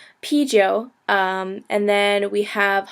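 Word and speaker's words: 啤酒: hongo and BYO so p is beer you say p like like eating a p p Joe um and then we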